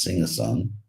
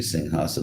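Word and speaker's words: सिंहासन: the lion seed uh pronounced sometimes in the west as sing a song somehow or other but it's actually sing hassan of the lion see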